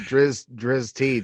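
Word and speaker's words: Drizzt: to say it wrong i i pronounce it drizz t just because i think it sounds cool because i think iced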